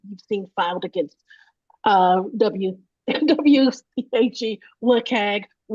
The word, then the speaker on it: WCAG: What is um an interesting or notable issue you've seen filed against uh wagg however how I say wagg um but I know some people prefer another pronunciation do you mean